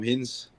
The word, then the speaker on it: Hinze: um just my name hins with the E on the end but don't pronounce it like that yeah I'm on Instagram